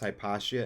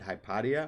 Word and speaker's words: Hypatia: because you knew that it was pronounced hypatia and not hypothea is that what you're